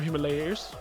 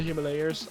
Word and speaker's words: Himalayas: Or Himalayas. Is that how you would pronounce it more like? Yes. Yeah, it's like from the Himalayas.